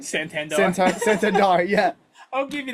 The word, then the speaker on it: Santander: Santander.